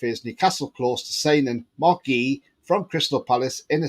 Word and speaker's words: Guehi: Now, that's how you pronounce his name, apparently, Marc Guehi.